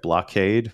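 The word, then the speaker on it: Bloqade: there's I guess am I saying it right blockade but with a Q so blo q-a-d-e yeah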